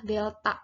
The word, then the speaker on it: delta: Rumus pemuaian panjang itu adalah delta L. Ini yang segitiga, bacanya bukan segitiga, tapi dibacanya delta.